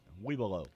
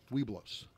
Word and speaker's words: Webelos: Webelow.